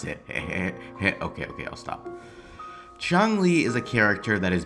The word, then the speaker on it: Changli: I'm void igma and I used to call Chung Le ch Le so I decided to change the way that I pronounce it okay okay I'll stop Chong Le is a character that is built around her